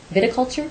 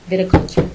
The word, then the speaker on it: viticulture: everything else this was a wine vulture how do you say that word viticulture there you go viticulture yes okay was held